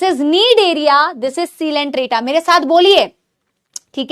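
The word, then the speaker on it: Coelenterata: ये कॉलंट्रेटा नहीं है, नाम दिखता है ऐसा ही कि कॉलंट्रेटा लिखा है, बट इट इज सीलेंट्रेटा।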